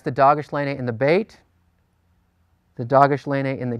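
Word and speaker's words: bet: this a little bit the hard pronunciation is B as in boy the soft pronunciation is v as in vine so when you encounter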